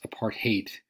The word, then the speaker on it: apartheid: as I said earlier apart aid is fittingly pronounced apart hate it sounds like a heart hate it's basically apartness the